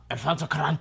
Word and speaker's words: Alfonso Cuarón: Alfonso Cuarón.